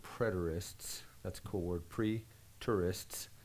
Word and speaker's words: preterist: AD 70, now some people, and they're called preterists, that's a cool word, pre-tourists, and it's not spelled like tourists go see things, but T-E-R.